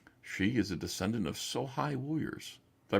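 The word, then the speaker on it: sōhei: She is a descendant of Sohai warriors. Did I pronounce that correctly? Yes, Sohai.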